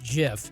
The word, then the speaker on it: GIF: recharge the batteries here we all know it's pronounced jiff exactly short of building lego 3d printing and